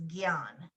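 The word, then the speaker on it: ज्ञान: for knowledge and censorship is Gyan which is not spelled like that at all j-n-a-n-a yeah again the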